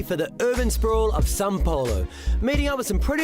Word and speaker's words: São Paulo: Looks like Sao Paulo, but it's pronounced São Paulo.